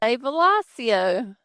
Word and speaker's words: Velosio: Probably when we all met in Ohio on day one of Velosio, when we learned how to say Velosio. We did. The name came from the term velocity, and I'm glad that